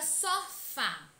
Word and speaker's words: sofá: Na palavra sofá, ela é oxítona, pois a última sílaba é tônica. Sofá. A sílaba fá é a mais intensa, é a que demora mais a ser pronunciada.